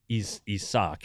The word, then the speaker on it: Isak: The Cubs are getting Isaac Isak is how it's pronounced.